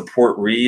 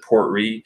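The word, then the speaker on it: Port Ruighe: I would use was the poor tree is how you pronounce it poor tree it's poor - are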